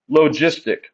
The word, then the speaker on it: logistic: growth we call this logistic logistic growth it's a soft G sound not logistic logistic logistic